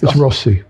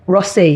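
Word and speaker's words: Rothesay: So, wherever they go, I probably mispronounced that now, Richard. Uh any It's Rossy. Rossy. Yeah. Oh, that's what they say out there.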